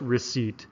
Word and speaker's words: receipt: The P is silent here. We don't say receipt. This is just receipt.